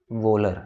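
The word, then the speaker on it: Wöhler: तो father of organic chemistry हम लोग कहते हैं फ्राइडरिच वोलर, ठीक है। वोलर बोलो या वोलर बोलो, एच साइलेंट कर सकते हो, स्पेलिंग यही है लेकिन, ठीक है।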